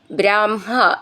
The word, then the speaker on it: ബ്രാഹ്മ: ദ്രൗണീം ഏത്യ ത്വത് ഉക്ത്യ തന്മുക്തം ബ്രാഹ്മം, ബ്രാഹ്മ എന്നുള്ള ഉച്ചാരണം നമ്മൾ നിറയെ പഠിച്ചതാണ്, എന്നാലും ഒന്ന് ശ്രദ്ധിച്ചോളൂ. ബ്രാഹ്മ എന്നാണ് ഉച്ചരിക്കേണ്ടത്.